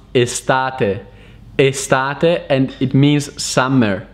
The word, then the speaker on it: estate: means a large property in italian is actually pronounced estate estate and it means summer the translation of